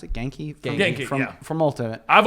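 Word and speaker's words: Ganke: If it, Ned is essentially how do you pronounce it? Genki. Genki, From yeah.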